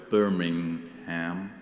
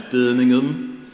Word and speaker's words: Birmingham: We'll probably never agree on how to pronounce the word Birmingham, or as they say in the Midlands, Birmingham, as we say on our shores and so on.